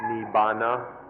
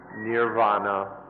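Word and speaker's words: nibbāna: called nippan in thai nibana in the pali language and nirvana in sanskrit it's one word but it's pronounced or has different forms in the different languages nibana and essentially nibana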